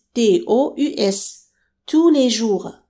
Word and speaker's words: tous: Pour le masculin pluriel, on écrit to à la fin S, T-O-U-S. Tous les jours. Donc ça s'écrit différemment mais se prononce de la même manière. Tout le temps et tous les jours.